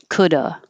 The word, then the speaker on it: could've: the sh should've but most of the time you don't hear a v at all uh and if you are going to make the v you don't have to make a perfect strong could have would have should have you can just make a a slight v could have would have should have or you can just drop the v completely and this changes to uh coulda woulda shoulda and that's that's most